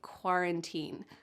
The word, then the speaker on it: quarantine: Make sure that you have the hard G at the beginning of guarantee and that qu sound at the beginning of quarantine.